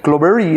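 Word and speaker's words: Cloveree: Clovery, así se pronuncia.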